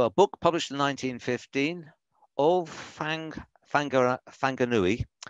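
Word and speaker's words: Whanganui: So a book published in 1915, Fanganui, you pronounce WH as a sort of f sound. So Fanganui, Nuni.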